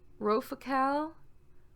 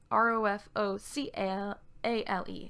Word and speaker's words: Rofocale: Rofokale, Rofokle. I mean Rofocale.